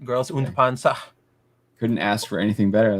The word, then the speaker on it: Girls und Panzer: Girls und Panzer.